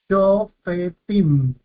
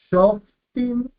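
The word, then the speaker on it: שופטים: Claro, si la leeríamos shoftim, con un lleva silencioso, tendríamos simplemente dos sílabas, pero como esta vocal O es larga, este lleva debe ser vocalizado por cuanto entonces tiene su propia sílaba y dividimos en tres sílabas.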